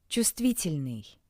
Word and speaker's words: чувствительный: Чувствительный. Чувствительный. Чувствительный. Please note that the bold letter V is not pronounced.